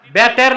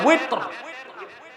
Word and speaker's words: ওয়িতর: এটার উচ্চারণ আমরা ভুল করি, বলে বেতের। বেতের শব্দ আছে নাকি? সালাতুল ওয়িতর। বুঝলেন? এই ছাত্র এই ভুলগুলো করে। কোন ক্লাসে পড়ো? শরহে বেকায়া। শরহে বেকায়া কিতাব নাই তো, শারহুল ওয়াকায়া। শারহুল ওয়াকায়া, এটারে বলে শরহে বেকায়া। এই নামে কিতাব আছে নাকি? মাওলানা সাহেবরা হাসে। তো শব্দটা হচ্ছে কি ওয়েত, আপনারা বলেন বেতের।